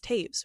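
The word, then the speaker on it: Toews: We're pronouncing that last name as Taves, right? But why?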